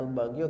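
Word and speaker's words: البغيُ: Bacanya al-baghyu karena dia sebagai fa'il.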